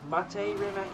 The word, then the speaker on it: Mate Rimac: I mean, because I've said this before, but I think Mate Rimac is the correct way to pronounce it.